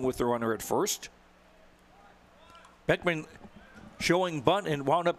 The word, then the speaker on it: Beckmann: Boley will bring up the third baseman zach beckmann it spelled the double ekm a double n but it's pronounced Beckman left handed hitter hitting 244 two